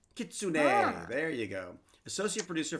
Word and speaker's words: kitsune: job associates it has nine tales and it's pronounced kitsune kitsune there you go associate producer thank you for